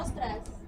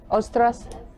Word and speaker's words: ostras: Ah, no, ostras. Ostras? What about, we should name it Muscle Ridge. Just because there aren't any. But clam, or clam, ostras? Ostras. O-S-T-R, O-S-T-R-A-S, ostras, ostras ridge.